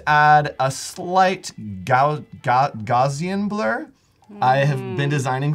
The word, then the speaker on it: Gaussian: blur and just add a slight gout got Gaussian blur I have been designing for 11 years and still pronounce that differently every time I say Gaussian Gaussian blur so you'll see as we do